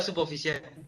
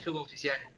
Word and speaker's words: suboficial: Está mal pronunciado suboficial. Es suboficial.